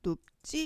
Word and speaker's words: 눕지: 5번에 눕지 같은 경우에는 비읍하고 만나서 얘가 쌍짓이 되는 된 소리 되기라고 해 가지고 눕지 이렇게 발음을 합니다.